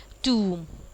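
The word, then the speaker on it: tomb: जैसे टूम, आप देख सकते हैं कि ओ और एम को उसने एम्फेसाइज दे दिया. मकबरे को टूम बोलते हैं. ओके, बी साइलेंट है.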